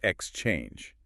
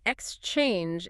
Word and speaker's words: exchange: The source highlights that the stress needs to be on the second syllable. So it's exchange. You have to sort of slide over the X and land hard on the change. Right, exchange. If you say exchange, it sounds like a noun, like the stock exchange. But as a verb, we usually stress the second part.